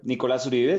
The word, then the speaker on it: Nicolás Uribe: Nicolás Uribe. So again, you crushed it with the pronunciation.